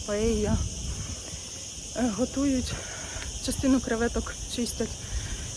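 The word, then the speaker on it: paella: паелью коли готують паею бо ми звикли що це паелья але читається в Іспанії як паейя готують частину креветок чистять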